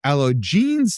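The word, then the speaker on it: Allogenes: The remaining two, the book of alo jeans, that is al loll o ge n-es, that's Greek for the stranger, and the gospel of Judas had never previously been discovered.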